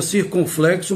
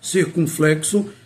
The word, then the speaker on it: circunflexo: circunflexo É bom lembrar muita gente pronuncia circunflexo mas não é circunflexo circunflexo então quando usar o